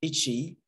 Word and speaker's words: E@I: ECHEI. Donc, ECHEI. Alors, ECHEI, qu'est-ce que c'est? ECHEI, c'est la prononciation en espéranto de E-I, qui est donc la contraction de Educado Che Interreto, donc éducation arrobas internet.